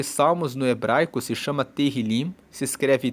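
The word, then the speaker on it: תהילים: O livro de Salmos no hebraico se chama terilim. Se escreve T E H I L I M.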